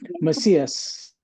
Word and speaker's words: Macias: Sean, is that how you pronounce it, Sean? Okay, Macias, yes.